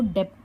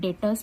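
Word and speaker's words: debtors: हमारे डेटर्स date देखिए उसका स्पेलिंग है डी ई बी टी ओ आर एस तो डेप्ट नहीं पढ़ना है इसे डेटर्स पढ़ना है बी साइलेंट है so remember it is called डेटस ठीक है ये है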